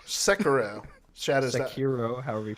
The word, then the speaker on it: Sekiro: Shakira? I'm not gonna fucking correct you. Shakira, I thought it was Shakira. My hips don't lie. No, it's not Shakiro. It's Sekiro. Sekiro.